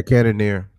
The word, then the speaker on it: Cannonier: Cannonier? Yeah, Cannonier.